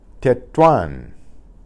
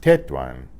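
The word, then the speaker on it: Tetuán: and iris are dipthongs Tetuan that one the UA there is a diphthong there's an accent on the a the stronger of the two vowels just to tell us that that's the syllable this test stressed instead of Ted one at that one and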